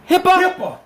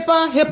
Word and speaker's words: HIPAA: HIPAA.